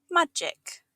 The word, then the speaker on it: magic: Magic. Magic means something mysterious or supernatural. It's pronounced ma-gic, with a soft G sound like in giant.